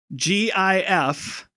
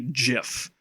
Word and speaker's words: GIF: And therefore, because that's a hard g, that should make the acronym start with g.